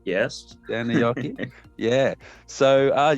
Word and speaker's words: Seinäjoki: Have I pronounced that correctly? Quite well, Seinäjoki, yes. Seinäjoki, yeah.